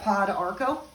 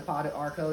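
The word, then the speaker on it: pau d'arco: We've got pod arco. Anybody's familiar with that? That pod arco, and it's spelled P-A-U-D, arco.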